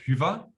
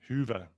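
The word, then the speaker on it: Hyvä: So it's pronounced Hyva, Hyva. Hyva in German and Finnish. There is no German, I guess. But yeah, Hyva. But it comes easy to Germans because we have the U, the umlauts, U, Ö.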